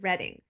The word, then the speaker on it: Reading: and oh and she told me how you pronounce it so I did it fine didn't I reading yes okay you have the stage thanks DNA